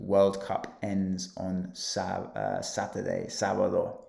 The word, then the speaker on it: sábado: The World Cup ends on Saturday, sábado. Remember the accent on the A? So really, really pronounce that. Don't be afraid to do that.